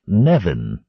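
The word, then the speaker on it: Nemain: An Irish goddess, pronounced approximately Nevin.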